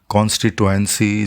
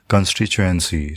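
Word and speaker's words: constituency: अच्छा, ये याद रखिएगा यहाँ पे जो है कॉन्स्टिट्यूएंसी जो है वो गलत प्रोनाउंसिएशन है, इसका सही प्रोनाउंसिएशन है कंस्टिट्यूएंसी, ठीक है। इसमें चे की साउंड है सेकंड टी में एक्चुअली।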